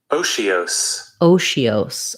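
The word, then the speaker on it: otiose: So they're saying we have first syllable stress, we have the O diphthong, then this TI has the SH sound. So like O, she, os. And with an S ending. So this SE says the S sound.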